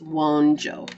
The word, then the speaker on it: Wunjo: like w-o-n-j-o-e won't Joe even though it's spelled wunjou it's one Joe okay perfect so that